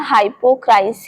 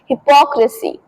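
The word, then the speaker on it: hypocrisy: तो बहुत सारे लोग बोलते हैं हाइपोक्राइस बट इसे सही तरीके से बोलते हैं हिपोक्रेसी। हिपोक्रेसी। तो अगर आप इसे हाइपोक्राइस बोलोगे ना तो वो गलत हो जाएगा।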